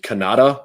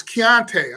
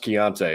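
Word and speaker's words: Konata: georgia area is it kanata mumfield is that how you say his name no it's kiante i'm sorry chianti yeah k-o-n-a-t-a pronounced chianti okay uh keonta mumpfield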